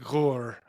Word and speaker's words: HUR: In Ukraine, they pronounce it Gur, which is HUR, Ukrainian military intelligence What's the national intelligence?